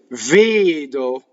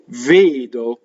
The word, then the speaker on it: vedo: Vedo. So this is closed E and closed O. Vedo, A, O. Just like, hey, Joe, right?